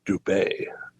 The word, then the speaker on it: Dubai: I've actually learned that they pronounce it Dubai. Ooh, okay. Yeah, locally.